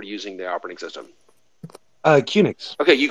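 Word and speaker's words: QNX: the operating system uh cunix okay you called unix yeah yeah so and cunix the origin of that is quick unix by the way so kunix always felt like it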